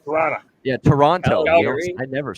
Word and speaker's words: Toronto: It's like Toronto. You don't pronounce pronounce the second T. Toronto.